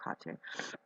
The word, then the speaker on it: Hecate: Hecate, I pronounce her Hecate. That's how she told me to pronounce her name.